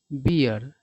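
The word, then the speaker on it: bear: और एक अन्य वर्ड होता है बियर, है ना। तो ये अल्कोहलिक ड्रिंक होता है जिसको लोग पीते हैं। ठीक है ना। तो उच्चारण पर ध्यान देना, ये बियर पढ़ा जाता है और ये बेयर पढ़ा जाता है।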